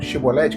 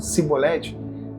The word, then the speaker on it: Chibolete: Porque todas as vezes que eles falavam chibolete, que eles não conseguiam falar, eles falavam cibolete, eles revelavam que eles eram.